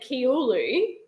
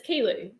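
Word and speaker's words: Kiulu: it as tarangano but then we went to kilo the other day and it's spelled k-i-u-l-u now we would have said kiolu but it's kilo so where's the actual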